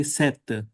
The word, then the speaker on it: sept: And in modern French, they don't pronounce p, they simply say sept for seven, just as in Punjab we say sat for seven.